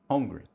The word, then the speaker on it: Holmgren: Chet, how you pronounce his last name? Holmgren.